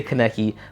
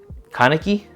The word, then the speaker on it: Kaneki: how I said it I say keki but I guess it's kaneki or whatever anyway that doesn't